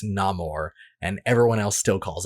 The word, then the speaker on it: Namor: and it's pronounced as nameor but then in the movie he specifically says it's no more and everyone else still